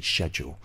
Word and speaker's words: schedule: up as schedule and we assume this se's pronounced but it's actually schedule um so remember that